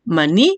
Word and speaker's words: maní: Maní, ¿cuál es la sílaba tónica ahí? Usted va a encerrar la palabra ni, porque ahí está la mayor fuerza de voz.